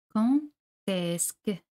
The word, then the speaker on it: Quand est-ce que: Quand est-ce que. De aquí se pronuncia T.